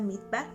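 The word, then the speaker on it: מדבר: El desierto, amadas hermanas, en hebreo se pronuncia midbar y esta palabra midbar significa conducir o apacentar.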